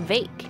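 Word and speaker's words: Vaike: Oh, his name is pronounced Vake.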